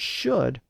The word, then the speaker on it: should: words like would and should are spelled with an L even though we don't pronounce those L's today will produced Old English